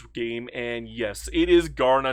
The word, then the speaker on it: Kaurna: I looked up the actual pronunciation to this game and yes, it is Garner, not Garna. I've called it Garna so many times that people actually started to yell at me. It's Garner.